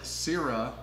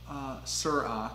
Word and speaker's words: Syrah: man they're like if she says Sarah Syrah is how you're supposed to pronounce it is like so ratchet